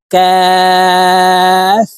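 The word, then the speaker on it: قاف: উচ্চারণ করতে হবে আর কাফ হরফ জিহ্বার গোড়া থেকে একটু আগে বাড়াইয়া উচ্চারণ করতে হবে কাফ তো প্রিয় দর্শক আমরা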